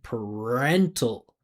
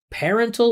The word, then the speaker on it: parental: the last word right she's saying par parental I would say per per make it a reduction because it's unstressed. I wouldn't pronounce the vowel sound. I'd say parental. Parental or parental.